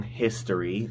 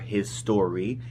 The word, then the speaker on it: Hisstory: my most recent song, History, or Hisstory. Either way you pronounce it is correct. It's kind of a play on words in itself. That's why it has those two S's.